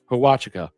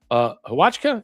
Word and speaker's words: Huachuca: Air Force, especially Fort Huachuca.